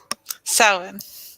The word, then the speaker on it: Samhain: Samhain.